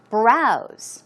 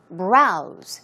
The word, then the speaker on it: browse: One more, browse, which means to look, right? To run through, to glimpse at something, or even flip through something. Browse. It's a Z sound as you see. Browse.